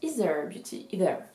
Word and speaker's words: Aether Beauty: Donc ça s'écrit Aether Beauty, mais ça se prononce Ether Beauty, Ether, exactement.